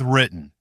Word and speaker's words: written: Let's start with written. Written, written. Good. This time, don't try to burst that middle T strongly, like a full separate syllable. Let it catch in the throat and move straight into N.